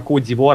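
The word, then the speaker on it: Côte d'Ivoire: Слоновой кости Ну типа кодир это французское произношение в своё время просто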